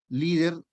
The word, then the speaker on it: líder: el líder exacto sería líder ojo o cabrera líder es una palabra grave lleva tilde ya muy bien entonces